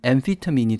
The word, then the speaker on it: amphetamine: 그 보통 암페타민이라는 약물이나 뭐 마약 같은 거 뉴스에서 보게 되는데 그 암페타민이 영어로 발음하면은 엠피타민이 되는데 그 앞에다가 METH를 붙여가지고 methamphetamine이라고 얘기하면은 이제 그게 우리가 얘기하는 필로폰이죠.